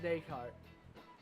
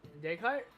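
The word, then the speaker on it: Descartes: willing to fight demons the Scot is pronounced day cart they dayut day cart so the es is just dropped at the end or is it day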